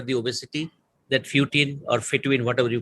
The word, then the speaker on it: fetuin: is the protein called fetuin how do you pronounce it that that hocine fetuin fetuin which sa was was you on both